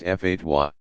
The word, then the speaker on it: fatwa: One who issues a legal advisory called a fatwa, pronounced fatwa.